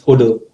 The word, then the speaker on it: HODL: Yeah, And the way you and pronounce it is holder.